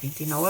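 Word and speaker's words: vint-i-nou: Després, del 29, evidentment, vindria el 30. En què vull que us fixeu? Doncs quan jo he pronunciat els números, he dit 29. Hi ha una I que sona allà al mig.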